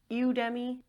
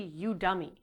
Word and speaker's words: Udemy: How do you say you demi Udemi? Udei. It's actually you dummy as in I'm gonna kill myself.